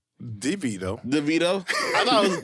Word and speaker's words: DeVito: we are twins like Arnold Schwarzenegger and Danny levita DeVito DeVito I thought it was libido Danny libido